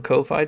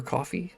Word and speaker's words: Ko-fi: The quickest way is technically the Ko-Fi donations, or coffee, I suppose is how they say it, because that goes straight to my PayPal, which means I can use it immediately.